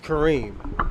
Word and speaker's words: Kareem: I've been calling himWami. Jesus Christ. Kareem. My fault. Kareem. Uh, why you didn't tell me I was saying your name wrong, man? It's Kareem.